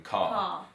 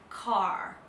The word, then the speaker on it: car: in words like car in British English we don't say the r at the end it's just open car but in America they say it like car so they've got the r at the end of the word and just little things